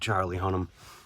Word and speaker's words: Charlie Hunnam: I you know I would like to meet Charlie Hunnam that's that's how you pronounce his name I I grew up around